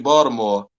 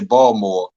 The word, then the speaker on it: Baltimore: so it's a b you still say baltimore you just don't put the t there some people try to drop it and say bald more no it's it's another another syllable there but just getting back